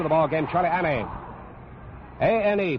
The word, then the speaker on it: Ane: A-N-E, pronounces his name Ane, from Honolulu.